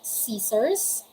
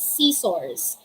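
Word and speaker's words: scissors: here are the examples we have caesars it's not c source it's not c source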